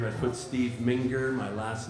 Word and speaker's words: Mingear: I've got a YouTube channel as well, Steve Mingear Band, and or SoundCloud, the Ming Humble Band. You can find me on those locations. So yeah, And that's Mingear, Mingear.